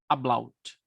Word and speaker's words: Ablaut: de um fenômeno chamado ablaut, que é, em português, normalmente nós chamamos apofonia. Apofonia, ou ablaut. Aqui, pronunciando em português uma palavra que é alemã. A-B-L-A-U-T. Ablaut.